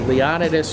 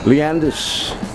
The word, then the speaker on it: Leonidas: well being a european i i pronounced leonidas street textbook style but then uh the owner of the maple leaf bar uh hank staples would correct us every time we we played the song but i just there's just no way after writing this song there's no way i can pronounce it any other way than how i do leanders not leonardo's i've heard leon leontis